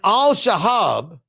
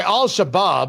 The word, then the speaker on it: Al-Shabaab: back to Somalia and Al Shahab, I'm sorry, Al-Shabaab, I got to pronounce correctly, the terrorist organization ended up with the money.